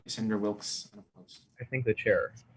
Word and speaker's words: Wilkes: All right, Senator Wilkes, unopposed. I thank the chair. Hi, everybody. Wilkes, W-I-L-K-E-S. For the pronunciation, the E is silent.